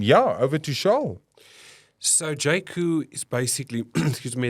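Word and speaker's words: Jaecoo: coming of course J spelled j AE couo pronounced J C um yeah over to sha so jaku is basically excuse me it's basically their off-road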